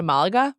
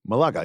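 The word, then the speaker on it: Málaga: Malaga, yes. On all my British TV shows, they say Malaga. Oh, Malaga then, yes. So the Brits don't necessarily say things correctly, but I'm just using the British pronunciation.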